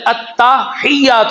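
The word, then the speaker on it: التحيات: لفظ ہے التحیات للہ. کیا ہے؟ التحیات للہ. تا کے اوپر زبر ہے، ہا یہ کے ساتھ ملے گی جا کر، التحیات للہ.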